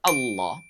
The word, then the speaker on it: Allah: Jadi pastikan tidak kita ucapkan dengan bunyi Allah memonyongkan kedua bibir kita. Sebagaimana kita memonyongkan kedua bibir untuk mengucapkan huruf wa.